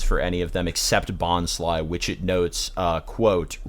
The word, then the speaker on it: Bonsly: And it doesn't have pronunciations for any of them except Bonsly, which it notes, quote, rhymes with pie.